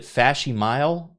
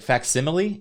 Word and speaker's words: facsimile: I used to pronounce it Fashimile. Like facsimile? You pronounced Fashimile?